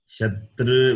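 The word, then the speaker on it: शत्रु: Ooh, rounding my lips and can pronounce Shatru, meaning enemy. Okay. It is Ukara. It is labial. Shatru, when I say it is R is cerebral.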